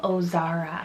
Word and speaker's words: Ozara: similar with the oh beginning is the name ozara spell o z a r a o zara